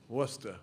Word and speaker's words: Worcester: Worcester. Worcester.